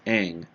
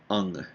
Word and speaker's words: Aang: In the show, they clearly called his name out 100 times, Aang. Aang. Aang. And over here, they call him Ung.